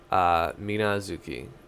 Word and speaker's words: Minazuki: Minazuki. And it's the same pronunciation as her Shikai.